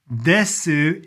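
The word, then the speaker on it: です: When you see that in writing, desu in reality, the u at the very end is really not pronounced. I say that and I don't know the exact rule. I've never asked a Japanese person this before, but men are more likely definitely not to say the U.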